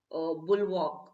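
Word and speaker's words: bulwark: important next one is the pronunciation i think for this one is bull walk bull walk is a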